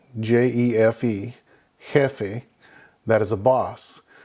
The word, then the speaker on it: jefe: Kind of interesting because we just saw that the H is silent, but the J, the J, makes the H sound in Spanish. Now, an example would be jefe, J-E-F-E, jefe, that is a boss.